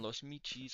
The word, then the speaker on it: Michis: You can see up on my screen there as a reminder, Alcahuetes is going to be orange, and Los Michis, I think you pronounce the CH like that, is our blue.